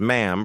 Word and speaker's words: ma'am: Enter when announced, bow from the neck only, address Her Majesty as ma'am, pronounced to rhyme with ham, accept the royal handshake, do not initiate conversation about anything controversial.